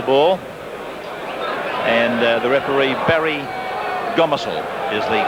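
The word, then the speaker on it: Gomersall: will place the ball and the referee Barry gomisel is the correct pronunciation just repeating if you just joined us and George won their match against Queensland country by 26 points to 10.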